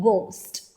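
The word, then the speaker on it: ghost: Going to make sound and H will remain silent like in गोस्ट।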